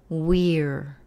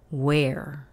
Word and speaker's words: we're: Se pronuncia we're. We're. We're. No se pronuncia como la palabra donde, where. Where. Pero se pronuncia como we're.